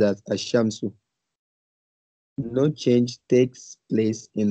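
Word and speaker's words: الشمس: When al is prefixed to a noun beginning with a solar letter, the lam of al is assimilated to the solar letter, e.g. Ashams, the sun. Okay, Ashams is pronounced as Ashamsu.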